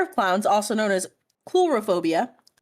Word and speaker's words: coulrophobia: The fear of clowns, also known as coulrophobia. That's chlorophobia. Coulrophobia. Sorry. So yeah, it is not bozophobia. It is coulrophobia.